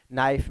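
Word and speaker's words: knife: इसके अलावा नॉलेज में के साइलेंट है, नाइफ में के साइलेंट है, हु में डब्ल्यू साइलेंट है।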